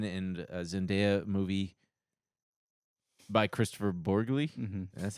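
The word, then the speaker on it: Borgli: Um, Robert Patson and and Zenaia movie by Christopher Borgley. That's how you say it. Yeah. Sound like a noodle. Last name sounded like a noodle.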